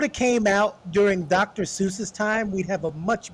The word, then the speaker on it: Seuss: titles right you know his name isn't even pronounced Dr Seuss his name is Dr Seuss but his name always